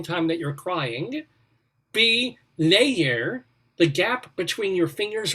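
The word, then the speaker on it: ladhar: gap between your knowledge there actually is a real gaelic word layer it's spelled l-a-d-h-e-r and it is this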